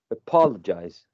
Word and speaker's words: apologize: word is uh apologize apologize has uh four syllables and the stressed one is the second one apologize okay thank you no